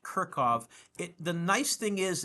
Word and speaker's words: Kirchhoff: Kirkov's laws and that is pronounced Kirkov.